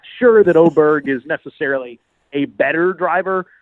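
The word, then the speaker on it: Åberg: Oberg, his name is, I guess, in Sweden, really pronounced Oberg. There's some weird sound you make at the end of the name.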